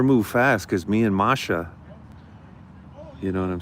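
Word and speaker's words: Маша: BB foil, Marsha is how you say Maria's name in Russian. If you were in Russia and you were with Maria, you would call her Marsha. It's like Marsha without the R, Marsha.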